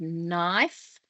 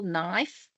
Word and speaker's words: knife: So if we look at the word knife, we can hear a n, I. So we've got three clear sounds there.